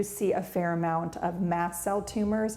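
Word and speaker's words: mast cell: a fair amount of mass cell tumors it's spelled m s Mass like a ship um massel tumors are one of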